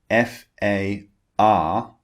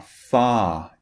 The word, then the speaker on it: far: but in British English when the r comes at the end of a word we do not pronounce it so when the r